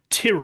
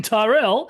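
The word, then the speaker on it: Tyrrell: the the American presenter not knowing how to pronounce the team Tier or Kint T cuz he's Ken Tyrell, it's like oh no, you just Other than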